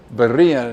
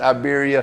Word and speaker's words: Iberia: what say it again Berea he I said oh Lord we done mispronounce we done mispronounced Iberia Bia Taco coach Bia Taco